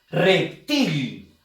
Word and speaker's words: reptil: Reptil. Si te das cuenta, la fuerza de voz está en la sílaba til.